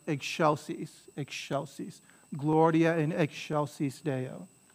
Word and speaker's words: excelsis: it's not ek it might look like an ek chelsea's because c before e has a cha sound